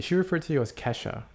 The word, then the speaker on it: Kesha: Since it is actually how it's pronounced, I am a French-speaking person, so the sound E is E-I. Whereas in English, apparently English speakers read that as Keisha when it's actually Kesha.